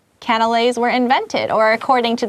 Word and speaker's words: canelé: The nuns later added different ingredients to their baked goods and eventually came up with canelés. I keep wanting to say cannoli, but that's an Italian thing. Canelés.